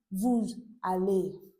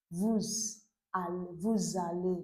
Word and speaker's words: vous allez: Okay, that's why I'm pronouncing it vous aller. That S consonant sound is pronounced as z. Vous allez.